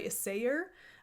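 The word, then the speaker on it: Isager: On my last episode of the podcast, I shared with you the EcoSoft by Isayer. I've learned it's pronounced like that.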